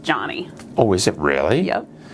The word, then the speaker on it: Joni: My name's actually pronounced Johnny.